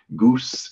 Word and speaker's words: GOOS: We simply set the target architecture with the goose and gorch our environment variables and run go build. I have it on good authority, that's how you pronounce those.